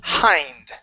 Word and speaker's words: hind: oh right here okay this word is hind okay so long eye sound I hind Abraham's hind legs jolted